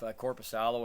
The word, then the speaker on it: Korpisalo: But do you think that with Korpisalo or however we pronounce his name, I have a hard time. Korpisalo, yeah, I think you got it close enough. Korpisalo, I believe, is how you say it.